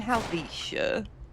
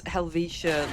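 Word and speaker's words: Helvetia: So, we're in Helvicha. I've seen someone pronounce Helvisha like Helvetica. That's a font, my dude.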